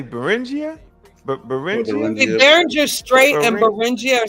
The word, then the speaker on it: Beringia: yeah that it's burn so I've been saying it wrong all this time the buringer the buringer streets yeah so who what y'all say beringia straight and Bing are